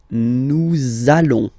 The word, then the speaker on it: nous allons: it does mean that you will have to pronounce this z sound, okay? Listen to me. Nous allons.